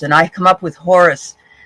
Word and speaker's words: Horus: So I pulled some wonderful archangel cards, and I come up with Horus. Actually, it's Horus. I think the H is silent.